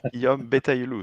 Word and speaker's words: Guillaume Betaillouloux: It's Guillaume Betaillouloux.